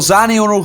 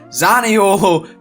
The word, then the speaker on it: Zaniolo: got dispatched of 3-0, Zaniolo scoring once again, that's not how you say his name, Zaniolo, Dybala and Abraham all on the score sheet.